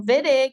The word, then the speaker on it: Wittig: Ps of formation of viig reagents so viig is spelled with a W it's not pronounced whittig though it's pronounced viig um it's somebody's last